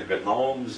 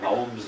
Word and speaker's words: gnomes: Wilson called them the Gomes of zorich as far as I know he was the only one that ever pronounced the G in Gom we call them the Gnomes of Zur if playing no matter